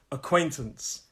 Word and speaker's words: acquaintance: drives me crazy acquaintance acquaintance three syllables acquaintance let's make it